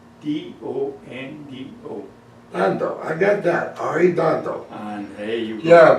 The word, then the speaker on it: Arredondo: Arredondo. He was Arredondo.